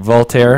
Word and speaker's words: Voltaire: And everyone keeps talking about, I always get the name wrong, Voltaire.